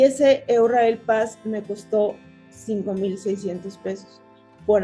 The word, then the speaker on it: Eurail Pass: Se puede comprar algo que se le llama Euralpass, que así pronunciamos nosotros aquí en México, Euralpass, y que allá lo pronuncian Eurail Pass, que es un pase que uno paga previamente y puedes pagar, tienes muchas opciones.